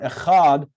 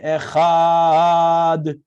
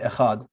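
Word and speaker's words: אחד: sounds longer than this you should be careful not to distort the pronunciation of the word echad by over emphasizing the letters for some people actually distort the word some say echad and others you'll hear people do that it is better not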